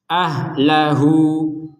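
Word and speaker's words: أَهْلَهُۥ: kita bacanya ahlah ee perhatikan ada wau kecil di sampingnya Ha ini ya wau kecil ini menandakan bahwa harakat dari huruf hanya ini dibaca Dua Har harakat ahlahu huu du dua harakat Kapan ketika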